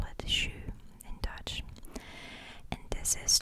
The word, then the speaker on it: jus: time you call it shoe you don't pronounce the s you call it shoe in dutch and this